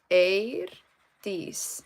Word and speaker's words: Eirdís: But yeah, so the way you pronounce it is Eirdís. So the E and I together in Icelandic is pronounced as A. EI is A.